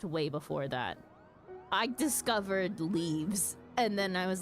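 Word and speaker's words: leves: leav leaves yeah leaves they're oh do you pronounce them levies do you pronounce them levies leaves yeah the crafting leaves yeah l e v s yep mhm it's actually pronounced leaves yes it's actually pronounced leaves oh my God Cav is actually here on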